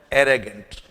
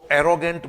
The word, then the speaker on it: arrogant: जैसा कि आज का हमारा शब्द है एरेगेंट। पहले तो इसके प्रोनाउंसिएशन पे ध्यान दीजिए। अधिकांश विद्यार्थी इसको एरोगेंट बोलते हैं। इट्स नॉट एरोगेंट, इट्स एरेगेंट।